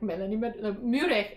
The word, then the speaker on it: Meurehg: break and i'm like melanie muric and i'm medic so it's just funny um because even growing up in mexico no one pronounced the name properly i don't pronounce it properly by the way because